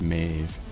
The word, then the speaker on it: Mave: Topaz Mave. That rhymes with brave.